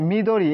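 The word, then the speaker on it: 緑: নয় number me দ এটা এভাবে দেওয়া আছে হ্যাঁ মিদরি এই উচ্চারণটা হয় মিদরি কিন্তু আমি এটা এখনো আমি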